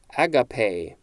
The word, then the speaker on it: agape: no wait this this is a different spelling agape that is how this one is pronounced a-g-a-p-e the pronunciation guide is telling me